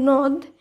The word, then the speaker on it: নদ: শব্দগুলি হলো একাক্ষর শব্দ এই সূত্রে বলা হচ্ছে এই একাক্ষর শব্দের অন্ত অধ্বনি অর্থাৎ প্রত্যেকটি শব্দের শেষের যে অধ্বনি রয়েছে যেমন নদ এই দশ্লেষণ করলে আমরা পাবো দয় হসন্ত যোগ অ ধ্বনি এই অ ধ্বনি অ ধ্বনি রূপেই উচ্চারিত হয় একইভাবে টব এই শব্দের